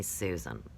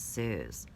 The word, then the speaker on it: Suze: a video where a girl insist on calling me Susan and I say my name's Suze so when people tell